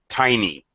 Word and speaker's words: tiny: Sometimes a Y makes an E sound, like tiny. Tiny, for example. All right, so the word tiny. All right, tiny, tiny. Even though the first syllable is stressed in this word, obviously the Y has this E sound. It's not a schwa or a short sound. That's actually a long sound.